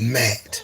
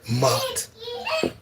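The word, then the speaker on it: Maat: Some people pronounce it Mat or Mot.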